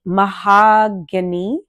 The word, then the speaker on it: Mahogany: So the name technically drew me because the brand is Pink Mahogany. I'm trying to say it correctly and not say it like my name because it's Mahogany. So it's Hany versus just being Any.